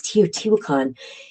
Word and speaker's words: Teotihuacan: There's one of the places, I want to say it's Teotihuacan, and I'm sure I'm pronouncing that one correctly.